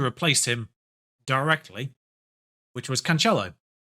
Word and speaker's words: Cancelo: him directly which was cancello cancelo i don't i don't think you actually do the accent thing with this uh can cancel because he doesn't have an accent on the c but romantic transfer listed